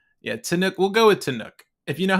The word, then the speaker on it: Tannuk: I only say Tanuk because it doesn't have an E at the end, and I feel like that feels more Trekky.